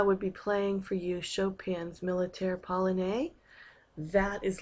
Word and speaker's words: Chopin: for Wednesday March 11th hour lesson title with Chopin and that's how you pronounce his name that's Schroder at the piano